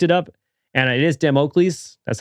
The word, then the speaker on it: Damocles: So it's like, damn, Oakleys? Damocles.